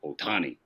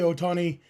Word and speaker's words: Ohtani: in western you know for us in English there's you know extra emphasis on the second syllable right like that's why it's always been otani or sasaki but in Japanese it's equal distribution for all the syllables um again things that